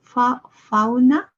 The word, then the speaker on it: fauna: fana okay thank you with this spelling the a u and the a w we really have a desire to to change the pronunciation ow and ah or something like that but it's actually the same sound fauna and draw faw draw okay let's scroll down